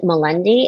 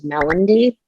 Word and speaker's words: Melendy: Their last name, I think you pronounce it Melendi. As a kid, I thought it was Melendy. I'm not sure to this day which is right, but they were a family.